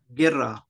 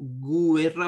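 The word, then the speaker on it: guerra: तो गुएर्रा पढ़ना चाहिए, लेकिन यू ई अगर इकट्ठा आता है, जी के बाद यू ई इकट्ठा आता है अगर, तो ये जो यू है ये साइलेंट हो जाएगा और बाकी पढ़ा जाएगा गिर्रा।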